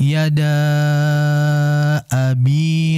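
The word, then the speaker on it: يدا أبي: Maka dibaca panjang 4 harakat. Tabbat yada abi lahabin wa tabb. Nah, jadi dibaca 4 harakat. 2 harakat tidak masalah.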